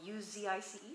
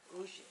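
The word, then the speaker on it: Užice: I thought it was that because it's spelled U-Z-I-C-E, so I thought like rice, Uzice, but he tells me it's pronounced Uji.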